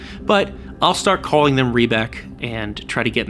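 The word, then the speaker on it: Riebeck: as inflections go, but it is a long E. It is E rather than I. I'm assuming that's how you pronounce it, so I guess starting now, I will say Rebec instead of Rybec.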